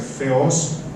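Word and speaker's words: θεός: Israel, do grego Rofeos, a gente chama Theos, mas a pronúncia é Feos, Rofeos, é o pai de Jesus.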